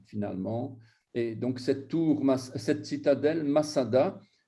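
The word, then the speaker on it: מצדה: Et donc, cette citadelle, Masada, elle s'écrit Matsada. Matsada. Donc, vous avez le tzadé, le dalet et le he. On devrait dire Matsada et pas Masada.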